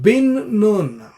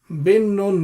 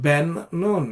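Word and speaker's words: Bin Nun: thing about him is that he is called bin noon bin noon not Ben non if you actually look at the all the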